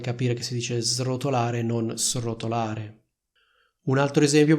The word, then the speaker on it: srotolare: quella della S intervocalica allo stesso modo si dice srotolare e non srotolare non so se Conoscete